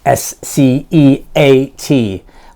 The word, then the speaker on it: sceat: S-C-E-A-T. I think it's sceat. This is the most popular pronunciation of it.